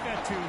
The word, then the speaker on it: Fetu: Fetu spelled F-E-T-U for the longest time. I was pronouncing it Coach Feta, like feta cheese.